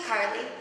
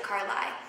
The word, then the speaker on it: Cari: breaks them up hi my name's Cari don't even dare pronounce it Carly honestly I would literally